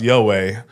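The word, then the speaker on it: Younghoe: His name is pronounced Yoei.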